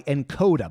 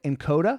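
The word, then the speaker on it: Nkoda: Steve this episode is brought to you by encoder by the way that's spelled NK Oda this app is like Netflix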